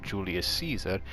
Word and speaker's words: Giulio Cesare: It's the battleship Giulio Cesare.